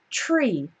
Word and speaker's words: tree: word tree tree okay see how that's different from three three three three tree you can see that at the beginning of tree my tongue is not between my teeth okay so four three then my tongue is between my teeth but for tree it's not alright so that's the